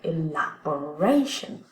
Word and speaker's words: elaboration: Et donc, comme on a un ION, on a un mot beaucoup plus long, on va avoir l'accent primaire sur ration. Mais comme on ne peut pas avoir 2 syllabes inaccentuées en début de mot, eh bien, on va prendre l'ancien accent primaire et on va le mettre placé en tant que secondaire. Voilà, elaboration.